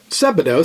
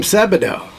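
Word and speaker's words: Sebadoh: You know, it's kind of spelled like Play-Doh. S E B A D O H. Mhm. So, it's do like Play-Doh.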